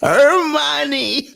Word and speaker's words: Hermione: It's her money. It's Hermione.